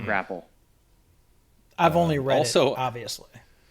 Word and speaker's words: Grapple: I just realized I've been saying the name wrong of this product for the whole time it's it's grapal of course it's grapal why is it not grapple I've only read it